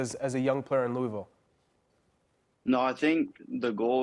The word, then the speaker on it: Louisville: a Louisville native did I say it right Louisville that's how you say it Louisville Louisville I